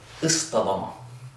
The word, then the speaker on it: اصطدم: meaning to collide, where we take that ta and we turn it into a ta to reflect the sound of the sad. And we get this, oh, I forgot my line. Istadama instead.